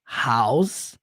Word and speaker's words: house: House que é casa House e você não fala House tá não tem som de e não tem som de i no final termina no som do Z House a house a